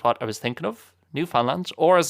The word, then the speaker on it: Newfoundland: or Newfaland I guess I think the pronunciation that's correct on Newfoundland. It's not New Foundland. The emphasis isn't on Found or Found but Newfoundland. I think that's more or less right.